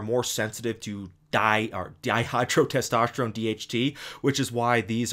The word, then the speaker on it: dihydrotestosterone: reason i stumbled when saying uh dihydrotestosterone is because you know i used to say dehydrotestosterone but then somebody pointed out to me it's actually not pronounced that way so i'm still getting